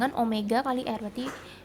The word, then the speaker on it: omega: melingkar berarti kecepatan sudut lambangnya yang kayak wek tadi tapi bukan Wei acara Bacanya adalah Omega satuannya adalah Radian per